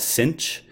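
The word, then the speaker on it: sinh: it in English so we just call it cinch to make it so you can pronounce the H somehow if you want to call it cinch if T is the the nickname for this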